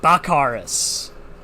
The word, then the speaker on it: Bakaris: So when Danny says Dracarys, that's how you pronounce my name, but with a B. Got you. Bakaris.